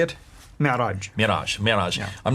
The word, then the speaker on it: Mi'raj: Mi'raj.